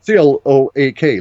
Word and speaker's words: Cloak: C-L-O-A-K, like cloak room, Cloak.